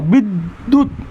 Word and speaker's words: বিদ্যুৎ: দয় জফলা রস্যুকার, তাহলে দয় জফলা থাকলে কি হয়? উচ্চারণে দ্বিত্ব হয়, দ হসন্ত দ, বিদ্যুৎ।